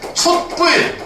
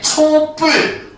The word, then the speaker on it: 촛불: 이루어진다고 볼 수가 있겠지 그럼 발음이 어떻게 되느냐 초 어떻게 되겠지 뿔 이렇게 발음이 된단 말이야 근데 이렇게만 발음이 되는게 아니고 요렇게도 발음이 됩니다 촛불 이렇게도 발음할 수가 있어요 무슨 말인지 알겠지 어